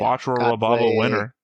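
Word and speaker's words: Quatre Raberba Winner: That's how they say it in the English dub, anyway.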